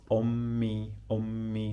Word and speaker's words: أمي: We repeat here the M 2 times, okay, because of the pronunciation. Like when we add the possessive pronoun, so it is easier to pronounce it like this. Ummi.